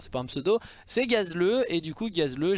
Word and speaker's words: Gazleu: nom propre d'ailleurs c'est pas un pseudo c'est gazleux et du coup gazle G a Z le